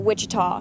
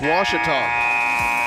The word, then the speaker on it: Ouachita: Back in Texas, everybody pronounces it Wichita, but really, it's Ouachita. Ouachita. Ouachita. How would you pronounce it? Ouachita. Ouachita. It's Ouachita Baptist University. Get it right. It's Ouachita, people. It's Ouachita. Ouachita. It's Washita. It's not spelled W-A-S-H, but it's pronounced like it.